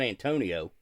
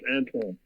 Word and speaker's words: Antoine: And that's not Antonio. No, it's Antoine.